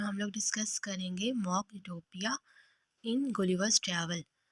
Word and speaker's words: utopia: ये जो वर्ड है यूटोपिया, इसको कुछ लोग उटोपिया भी पढ़ते हैं, लेकिन अगर हम लोग इसकी करेक्ट प्रोनाउंसिएशन देखें तो ब्रिटिश प्रोनाउंसिएशन में इसको यूटोपिया पढ़ते हैं।